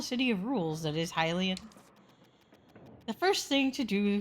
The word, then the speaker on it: Hylian: But it's probably supposed to be Hylian. Because it is spelled like lion. I just say Hylian because Zelda, I guess, on my brain.